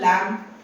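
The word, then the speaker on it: lamb: This goes for word लैंप लैंप भी सुनती है आर यू माय लैंप लैंप लैंप ब नहीं आती ब के आवाज़ नहीं आती। तो word B is silent in लैंप।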